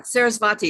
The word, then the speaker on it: Sarasvati: But it looks like Saraswati, am I pronouncing the last name correctly? Yeah, Sarasvati. It's kind of a combination of W and V.